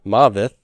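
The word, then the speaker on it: מָוֶת: is a violent language the word for death is mavis like this maveth but if i want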